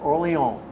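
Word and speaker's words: Orange: as an MP in oron France oron is the proper way you pronounce it I pulled a lieutenant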